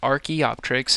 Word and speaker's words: Archaeopteryx: as well called Archaeopteryx so that is how you pronounce that word is Archaeopteryx and it appeared and